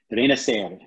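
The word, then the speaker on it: Renacer: So Reina Ser. You have to roll the R.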